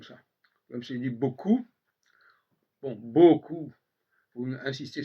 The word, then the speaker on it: beaucoup: Même si il dit beaucoup, bon, beaucoup, il faut insister sur le consonne, le B, et coup, il ne faut surtout pas prononcer le P final, etc., etc.